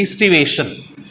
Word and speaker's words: aestivation: Okay, aestivation. A-E-S-T-I. But we have to pronounce from E. Aestivation. A is a silent.